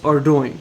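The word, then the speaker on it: Ardougne: So according to Google, it's pronounced Ardoin.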